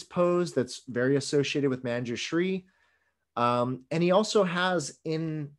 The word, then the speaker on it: Manjushri: that's very associated with manjushri and he also has in his right hand this is a very chinese version of manjushri who they call him manchulia right that's their pronunciation of manju shri you'll see that he